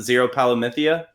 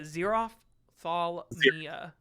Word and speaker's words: Xerophthalmia: I can never fully pronounce it. Zero Palomithia. Man, I wish that was so close, but it's just not. What is it? It's a Xerophthalmia. Xerophthalmia.